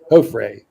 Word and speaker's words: Joffrey: It's pronounced ho free. Motherfucker. It's not ho free. It's ho fry. Ho fray. Ho fray. Ho fray. Ho fray. Say it with me. Say it with me. Ho Hofre. Hofre. Hofre. All these years he's been